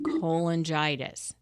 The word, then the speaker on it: cholangitis: said it right the first time primary sclerosing cholangitis yes that's right exactly great so I'm going